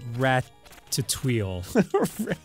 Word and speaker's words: Ratatouille: them i've seen ratatouille it's pronounced rat to tweel i'm just saying man